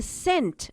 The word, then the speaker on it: scent: the knot let's read the sound is an initial silent digraph where the sea is silent when it is followed by an e or I read the words aloud don't forget to keep the C silent scene sent scissors scientist